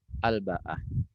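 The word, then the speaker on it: الباءة: Nah, diterangkan bil ba'i dibaca dengan ba al muwahhadah yang bertitik satu, wal hamzah dan diikuti dengan hamzah, wal maddi dan dibaca panjang, ya. Nah, jadi bacanya ba, ya, terus baknya ba titik satu, terus diikuti dengan hamzah dan hamzahnya juga dibaca dengan mad. Jadi bacanya al baah gitu, al baata gitu.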